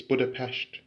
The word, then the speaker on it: Budapest: Stephen's Basilica in Budapest, Hungary, or more accurately, it's Budapest.